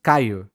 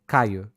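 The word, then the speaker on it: Caio: it is so simple my name is caillou c-a-i-o caillou yeah caillou i can do that yeah you could you could okay people from the virtual virtual rect virtually wrecked podcast couldn't pronounce my name i don't know why because it is just c-a-i-o it is just there's a kids show when i was little that was caillou so yeah yeah okay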